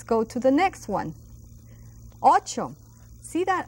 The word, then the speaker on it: ocho: Ocho. That's 8. And that's a CH sound that we learn also in our alphabet.